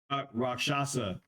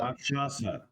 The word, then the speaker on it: Rakshasa: How do you pronounce that? The Raskasha? Rakshasa. Rashaka. Rashasa. Rakshasa.